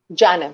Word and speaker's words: Janam: So tell us about Janam. Did I pronounce it right? Janam. Yeah, absolutely. Perfect.